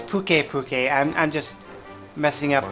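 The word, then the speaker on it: Pukei-Pukei: now but with a nun with pissed off Pooky Pooky its bouquet bouquet and I'm just messing up the pronunciation sounds Hawaiian once the camp is set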